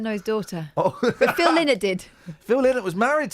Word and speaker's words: Phil Lynott: Well, I think that's the correct way of pronouncing Phil Lynott.